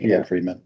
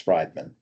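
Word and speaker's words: Friedman: of Mary meeting Bay Freedman yeah it's it's Fri it's Friedan is how it's spelled not two e it's I IE D it's f r i e d m f r i e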